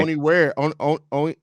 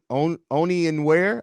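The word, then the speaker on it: Onyenwere: Oni where Oni and where I believe is how you pronounce it, if I'm not mistaken.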